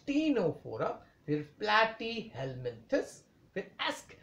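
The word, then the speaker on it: Ctenophora: Porifera फिर सिलेंट्र then टीनो फोरा सी silent है स्टूडेंट ने तो सनो बोलोगे आप लोग इट इज टीनो फोरा फिर प्लट हेलमंस फिर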